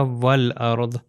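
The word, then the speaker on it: والأرض: ये अगला जुमला आएगा तो यह जो अलिफ आप देख सकते हैं यह अलिफ जो सेंटर में यहां पर है यह प्रोनाउंस नहीं होगा तो इंस्टेड ऑफ़ सेइंग वा अल अर्ध यहां पर क्या कहूंगा?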